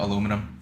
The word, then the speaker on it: aluminum: ain't a brick man yeah we pronounce it the way it was originally intended before those British Broods decided that it was you know um fuss poorly thought out uh before you